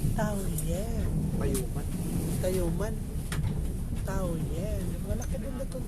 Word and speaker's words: Taoyuan: They pronounce it Taoyuan.